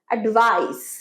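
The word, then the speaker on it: advice: এডভাইস এডভাইস হবে যখন এডভাইসটা noun হিসেবে আমরা ব্যবহার করব। যখন ভারব তখন এখানে এস হবে। উচ্চারণ কি? এডভাইস এডভাইস এখানে স এডভাইস এডভাইস থ্যাংক ইউ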